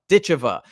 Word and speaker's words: Ditcheva: Dakota Dicha. And those are both three syllables.